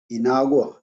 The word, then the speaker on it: Inagua: Yeah, man, that bring back a lot of memory because he was born in an island called Inagua in Bahamas, you know. Inago? Inago? Inagua, Inagua, How you spell that?